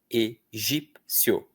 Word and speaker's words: Egípcio: A única vogal de verdade nessa sílaba é o o. Próxima. Egípcio. Egípsio.